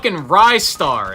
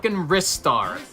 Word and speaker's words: Ristar: is still wrong and don't even get me started on wristar it's Rye star it's not wristar if anything it's restart but